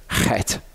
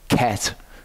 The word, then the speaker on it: Chet: a CH in Hebrew, don't pronounce it as a K sound. It's not a K sound. It's more accurate to pronounce it as a H sound, because it's actually a Chet. It's not a Ket. It's a Chet.